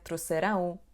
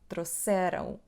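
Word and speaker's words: trouxeram: The most common error I am hearing is /troseRÂW/ which is not correct. So, we stress the word on the second syllable to the end "xe /se/": /troSErãw/.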